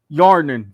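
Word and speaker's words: Hjarnan: 2022 lec summer split yarmin yarnin the h is silent you tell that to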